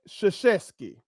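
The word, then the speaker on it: Krzyzewski: they tell me that the correct way to pronounce this is Mike sheski Mike sheski where in the do you see an S and an H together in that name to get sheski now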